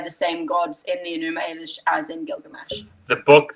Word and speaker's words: Enuma Elish: Did the Epic of Gilgamesh share a god pantheon with the Enuma Elish? Is that how you pronounce it? Enuma Elish?